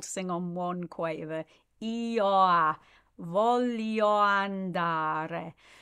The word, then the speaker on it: voglio: Io voglio andare. Voglio is emphasized.